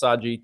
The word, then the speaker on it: Sage: Uh so if you see Sage, it's actually pronounced Saji just for fun.